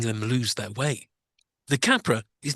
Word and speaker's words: Kapre: So first of all, the pronunciation of the monster is actually Kapre, not Capra.